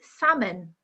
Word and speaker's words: salmon: salmon but the pronunciation the correct pronunciation is salmon with a silent L the same with plumber